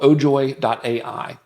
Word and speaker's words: Ojoy: It's called ojoy.ai. Ojoy. Yeah, ojoy.ai is how you spell that.